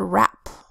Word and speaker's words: wrap: Next word, wrap. Wrap begins with the WR phonogram that says R, a short A that says A, and a P that says P. R, A, P. Say it fast, wrap.